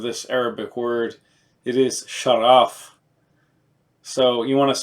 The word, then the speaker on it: Shaghaf: the gh pronounce of like a soft R or a French R anyways this is ultra